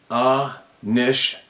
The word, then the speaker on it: Anishinaabe: The human race is Anishinaabe. They are Sabe. Now I know some dialects pronounce it Bay, but stay with me and go with B.